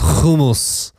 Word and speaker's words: hummus: got humus or humus hummus yeah hummus that's what Americans say but it's kumus can you repeat after